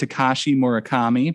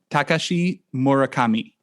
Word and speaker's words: Takashi Murakami: a Japanese artist um I've always said Tashi morakami but you you are telling me it's let's see if I can get it right this time Takashi morakami Kashi murakami okay thank you uh I